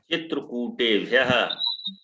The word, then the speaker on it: चित्रकूटेभ्यः: चित्रकूटई हम्म चित्रकूटाय हम्म चित्रकूटाभ्याम हम्म चित्रकूटाभ्य चित्रकूटेभ्यः। चित्रकूटेभ्यः कुटेभ्यः नहीं, कूटेभ्यः।